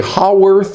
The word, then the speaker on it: Haworth: filming of these videos I got paranoid about how I was pronouncing Haworth projection and it turns out you could also say how worth or worth or any number of different things I'm gonna say Hayworth action